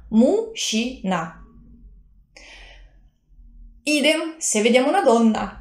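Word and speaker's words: мужчина: Uomo in russo è muscina, scritto muscina, letto, pronunciato muscina, non juc, ma sh. Mushina.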